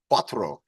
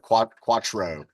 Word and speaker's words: cuatro: The pronunciation is 4, which is cuatro. Cuatro. And again, I'm getting that ro. Cuatro instead of quattro.